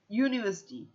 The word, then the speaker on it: university: front because ersity youu when you say it you have the Y sound in front University so if we have